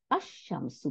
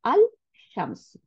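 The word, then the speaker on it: الشمس: তাহলে আশ-শামসু পড়তেছি, কিন্তু এটা অ্যাকচুয়ালি আল শামসু, ডেফিনিট, তাই না? আল শামসুটাকে লাম উচ্চারণ করতেছি না, এই লামটা গিয়ে শিনের সাথে মিক্স হয়ে শিনকে সাদ্দা দিয়ে দিতেছে।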